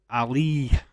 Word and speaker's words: Ali: okay hey man uh my last name is Ali so uh same way as Alleyway or Holly Ali okay uh how how